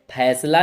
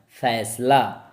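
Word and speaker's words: फ़ैसला: तो फैसला, फैसला नहीं बोलना है, फैसला।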